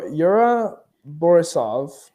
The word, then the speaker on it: Yura Borisov: not entirely sure I'm not entirely sure to pronounce this this this uh this actor's name but y Yura borisov from borisov you nailed it uh Kieran cin